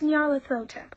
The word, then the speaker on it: Nyarlathotep: "It's pronounced Nyarlathotep," says the woman with the fan, with a hint of amusement in her voice.